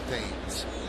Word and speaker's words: Thames: Eric says his name is pronounced Thames.